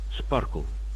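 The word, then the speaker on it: SPARQL: currently has the most powerful tools isod B Sparkle stands out often pronounced as Sparkle in Russian it is a semantic query language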